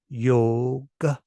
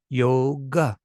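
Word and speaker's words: योग: the short sound so the way that this sounds is yoga Yoga Yoga yoga it's not yoga if you say yoga then you look like a foreigner then you look like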